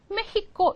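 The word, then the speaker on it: México: 분들은 막 웃으시는데 그게 아니라 원래 스페인어로 멕시코를 메히코 이렇게 하는 거예요 그다음에 하스 스 이렇게 부르죠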